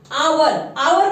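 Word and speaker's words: hour: आवर में जो है हमारा एच जो होता है हमारा साइलेंट होता है, तो इसीलिए हम इसको प्रोनाउंस करते हैं आवर.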